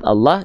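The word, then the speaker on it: الله: Kalau bacaan Allah tebal enggak? Iya. Bacaan Allah lamnya dibaca tebal.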